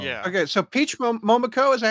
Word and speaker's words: Momoko: They were designed by Mokomo. Yeah. Okay, so Peach Momoko, is that how you say her name?